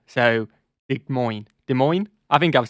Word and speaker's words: Des Moines: just seen uh des moines i know it's pronounced des moines now but uh only the ogs who've been